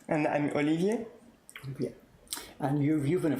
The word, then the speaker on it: Olivier: Because rather than me trying to pronounce French names. Okay, so I'm Cécile. And I'm Olivier.